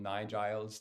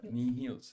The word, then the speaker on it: NIHILS: in the book from nigel's to nihils to who was the other one i don't know and yeah and heels or something so basically it's knee picture the knee and uh knee heels yeah so heels and knee